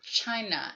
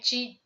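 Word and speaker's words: 氣: So that's what the idea, and it's basically sharing the same character pronounced as an ki or chi, that is as an tomato or tomato.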